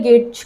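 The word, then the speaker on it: gauge: तो इसी को हम गेज कह देते हैं। यू साइलेंट होता है, गेज कहते हैं।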